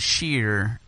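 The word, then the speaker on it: Scheer: It's pronounced differently. It's Schur versus Sheer.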